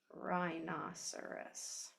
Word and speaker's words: rhinoceros: RH is a silent letter pair, as in the word rhinoceros. Okay, you don't hear the H, only the R.